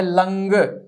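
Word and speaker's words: लङ्: अगला है लंग। लंग उच्चारण करते हैं इसका, और ये है भूतकाल। इसका उच्चारण हम लंग करेंगे, लंग, लड़ नहीं करेंगे। कुछ लोग लड़ कहते हैं, नहीं, लंग।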